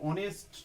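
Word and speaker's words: honest: আমি যখন আবার লিখছি অনেস্ট ম্যান, এই ক্ষেত্রে কিন্তু হবে, এই ক্ষেত্রে কি হবে, অ উচ্চারণ হচ্ছে এটা, দেখো এটা কনসোনেন্ট থাকা সত্ত্বেও কিন্তু উচ্চারণটা দেখো অ এর মতো হচ্ছে।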